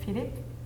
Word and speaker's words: Philips: but I would not, since in French language, when you have an S at the end of the word, you never pronounce it.